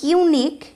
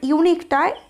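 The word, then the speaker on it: unique: এখানে দেখো, যদিও ইউনিক, ইউনিক ইউ ইজ a vowel, you ইজ a vowel, but still your pronunciation is like Y, ওয়াই।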